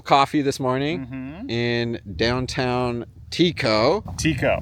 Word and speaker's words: Tekoa: So we were at Trestle Coffee this morning in downtown Tekoa. Pronounced Tekoa. That's how the locals say it. That's how the locals say it. I would have said Tekoa, so I'm glad we got that coffee.